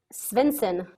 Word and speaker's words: Svendsen: where is it from svinson um it is danish oh very nice yeah